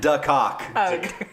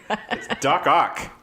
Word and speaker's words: Doc Ock: No, he taught him duck cock. Doc Ock.